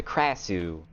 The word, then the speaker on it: Krasue: people speaking about her, they like didn't pronounce the R. Like the R almost sounded like it was an H instead.